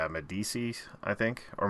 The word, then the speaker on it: Missandei: Yeah, Grey Worm, and I always mispronounce this girl's name. It's like Medici, I think, or Missandei.